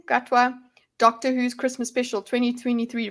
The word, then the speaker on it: Gatwa: Gatwa.